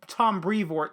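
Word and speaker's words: Brevoort: be clear i'm not talking about tom brevo tom brevort sorry i almost said his name wrong uh who was a great editor and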